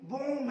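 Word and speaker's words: bomb: देखो इधर लिखता हूं बॉम्ब, बी ओ एम बी, ये स्पेलिंग होती है, लेकिन यहां से भी गया बॉम्ब, अजय देवगन कहता है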